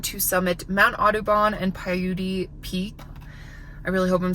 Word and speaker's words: Paiute: That being said, I am going to be trying to summit Mount Audubon and Paiute Peak. I really hope I'm saying that right. Nope, it's Paiute.